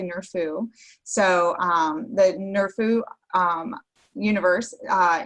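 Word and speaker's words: NRFU: follow-up universe in August I pronounced it nerf uh but I've heard it's actually near foo so the nerf ooh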